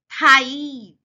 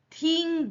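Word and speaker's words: thigh: ही injured ह देखो बच्चों ज्यादातर बच्चे ना थाई नहीं बोलते थिंग बोल देते वो गलत है स्पेलिंग भले टी एच आई जी एच है पर हम उसका मतलब थाई हुआ थाई बड़ी ई की मात्रा ही हिंज ही थाई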